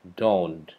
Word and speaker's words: dawn: Bacanya pakai O, dawn.